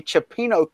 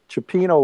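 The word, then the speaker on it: cioppino: And also, Chuck, somebody asked, how do they get a Chipino kit to play with?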